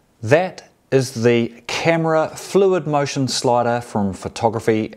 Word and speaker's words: Kamerar: or the camera slider I have trouble saying that word camera it's spelled k a m e r a r camera camera so first up I thought